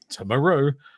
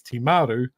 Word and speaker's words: Timaru: said I've said before taru is wrong it's Timaru um but I saw